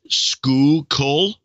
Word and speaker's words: Schuylkill: she says pronunciation guide Schuylkill is school coal ah I don't know